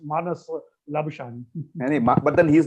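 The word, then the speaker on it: Labuschagne: yeah, So yeah, because they couldn't pronounce Labuskagni, they made it Labushin. Labushkagni, Yeah. Labushan. So I mean, we have champagne, which is the same spelling, but then we say champagne. So they said if it is Labuskagni, it should be Labushin. What's the big deal?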